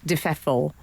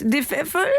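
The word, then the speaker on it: de Pfeffel: It's Alexander Boris Defeffel. Yeah. From the German Defeffel. Defeffel. Because Sounds like you're at a German cocktail party and they're passing around the snacks. Defeffel.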